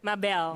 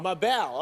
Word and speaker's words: Mabel: I'm going to pronounce that right, yes? That's right. Say that for me. Mabel. Mabel.